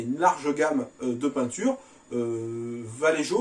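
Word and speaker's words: Vallejo: large gamme de peinture valléjo ou valero comme on prononce qui propose également pas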